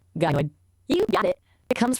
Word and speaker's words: gynoid: Yes, pronounced gynoid.